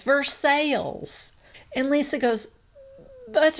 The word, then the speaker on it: Versailles: And Brittany corrects Lisa and says, Versailles. And Lisa goes, but it's Versailles. And Brittany said, yeah, but in Kentucky, we pronounce it Versailles.